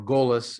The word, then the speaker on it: golus: As we discussed in the morning session, there's a distinction to be made between the concept of exile, in Hebrew galut, or golus in the Yiddish pronunciation, and the concept of a diaspora.